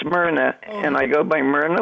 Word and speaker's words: Myrna: oh i'm sorry what's your name ma'am it's myrna and i go by miranda it's spelled m-y-r-n-a okay thanks hi renee uh i